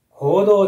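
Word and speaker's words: 黄道: の意味ですねこれ行動でしょうかそれとも起動でしょうか答えは行動です次の問題これ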